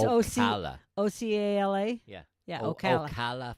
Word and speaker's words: Ocala: Ocala. Did I say it right? Ocala. Oh, I didn't say it right. It's Ocala.